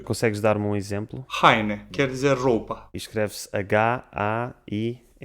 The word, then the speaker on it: haine: A letra H, pronunciada R. Consegues dar-me um exemplo? Heine, quer dizer roupa.